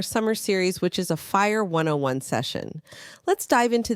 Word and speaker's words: FHIR: what exactly is fire fhi pronounced fire stands for fast Healthcare